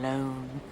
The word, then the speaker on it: Lone: Tom Lone. Rhymes with cone, phone, bone.